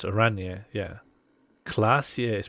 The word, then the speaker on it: Oranje: Oranje is pronounced Oranje, yeah.